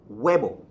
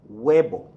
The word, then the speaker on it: huevo: these rules apply okay the H in any Spanish word is always silent we never pronounce the